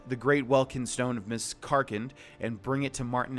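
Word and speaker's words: Miscarcand: is so weird cuz I've always pronounced it miss current never realizing that I was actually mispronouncing it the entire time okay so let's do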